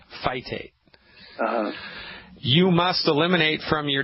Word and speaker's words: phytate: You spell that P-H-Y, T like Thomas, A, T like Thomas, E, phytate.